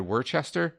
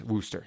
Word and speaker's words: Worcester: of our previous episodes, I said Worcester. Apparently that's incorrect. I'm not up on my East Coast pronunciation. It's Worcester, and I now know that.